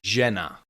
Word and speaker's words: žena: Uh is the same sound that you make when you say for example the English word measure or vision. Repeat after me. Jenna Jenna that's a woman.